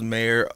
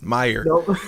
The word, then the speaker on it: Meyer: episode 84 featuring Charles Mayer a trauma healing and business coach did I even say your last name right I'm sorry about butchered it Meyer Charles Meyer yeah like why'd I say mayor Meyer uh a trauma healing